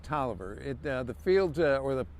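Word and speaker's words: Taliaferro: fort worth in general was referred to camp tolliver now camp tolliver and you will notice when uh if you ever see it written out it looks like tally of pharaoh but it was it's pronounced toliver it the field or the training complex was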